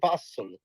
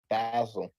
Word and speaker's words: Basel: basil or basil Basel it's really Basel but everybody in America calls it basil so it's Art Basel that's what we call it but it's really Basel so if we want